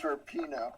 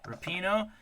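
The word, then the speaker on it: Rapinoe: do you say her last name it's it's rapino rapino Megan rapino has to be a Trailblazer for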